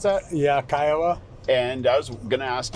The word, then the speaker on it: Kiowa: Or Kiowa, how do you pronounce that? Yeah, Kiowa.